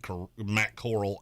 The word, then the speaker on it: Corral: Could be Golden Coral for all I know. It's not. It's not. It's the corral. It's like it's a cowboy term. Like the gunfight at the OK Corral.